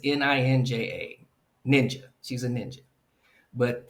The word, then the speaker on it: ninja: the most dangerous criminals list is it says N I N J A ninja. She's a ninja. But the marshall looks at it and mispronounces it and thinks it's her name. Nine J.